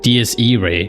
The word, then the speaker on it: Diés Iraé: And well, after watching the movie, I found out that it's pronounced DS. DS Ray.